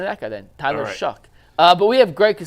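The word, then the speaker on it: Shough: this last year at shuck oh shuck is how it's pronounced I listened to like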